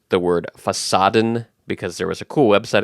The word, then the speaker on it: Fassaden: about ivy and monstera, I mispronounced the word Fassaden because there was a cool website I found called Fassadengrün, which is a website about green facades, and that's the German word for facade, is Fassaden.